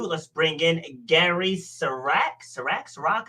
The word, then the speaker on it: Sirak: Sirak? I didn't ask. I'm sorry. Correct. It's Sirak. I do that at least one show a week. I forget to ask how to pronounce the name. My apologies. Actually, you were pretty close. It's really been butchered. You were like right on the money.